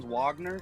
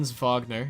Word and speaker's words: Wagner: Fron Wagner. Fron Vagner. Yeah, it's pronounced like a V.